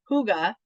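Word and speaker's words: Hygge: Harvest spice and Huga even though I want to say the Y so bad it's not pronounced that way Huga don't know who made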